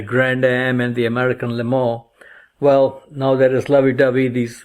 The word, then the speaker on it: Le Mans: they had the Grand Am and the American Le Mans.